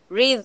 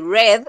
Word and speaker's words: read: Read es en presente y red, así como el color, es en pasado. Pero se escriben igual.